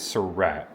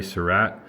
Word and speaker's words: Surratt: I always heard Surratt or Surratt. I think it's Surratt is what I read.